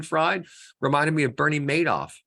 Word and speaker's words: Madoff: reminded me of Bernie Madoff spelled m-a-d-o-f-f but pronounced made off like he made off with the money right remember Bernie Madoff